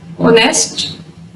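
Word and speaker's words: honest: There are also a few words that start with a silent H. चंद ऐसे word भी हैं जो silent as से स्टार्ट होते हैं, जैसे आवर, ऑनेस्ट, ऑनर।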